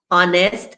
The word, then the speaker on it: honest: beginning of hair h-e-i-r honest and honor have nothing to say neither do the ones